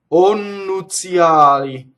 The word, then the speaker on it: nuzïali: So the I after the Z is really a semivowel. So nnuzïali is the proper way to say it. But in the poetry, they need an extra syllable, right? So nnuzïali, the E is said, just for the poetry, it's poetic license.